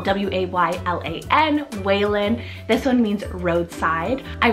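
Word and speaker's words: Waylan: Valen for w I have Waylon spell w-a-y-l-a-n Whalen this one means roadside I really love the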